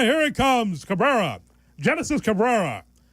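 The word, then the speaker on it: Génesis: Cabrera Genesis Cabrera right now he's got three Harry. Yeah, it's Henness.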